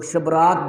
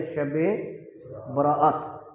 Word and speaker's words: شب براءت: عرف عام میں سے لوگ شبرات بولتے ہیں، حالانکہ اس کا درست تلفظ ہے شب براءت، لیکن ایک چیز غلط